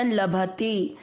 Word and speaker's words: लभते: अनुस्वार आधा म भक्त लभ दोनों अक्षर पूरे दोनों में अमिक्स करना लभते प में अ मिक्स